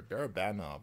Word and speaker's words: Barabanov: Sorry, Barabanov, I think is actually how you say his name.